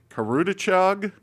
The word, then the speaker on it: Karudachog: Forgive me if I pronounced the name wrong, but Karudachog, is that right? Karudachog, yeah, that's good.